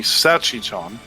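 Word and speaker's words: salchichón: it was c-h-a-s-i-c-h-u-n-g okay the actual spelling though is c s-a-l-c-h i c h accented o n yeah so it's supposed to be sachi chan yeah so cha chung sachi chong it's close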